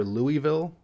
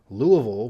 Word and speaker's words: Louisville: all people pronouncing it I think most people who live there do a combination of Louisville and Louisville with the they keep the Lua but then the Ville at the end with a Louisville so it's not the northern Louisville or the Southern Louisville but kind of in the middle which is pretty fitting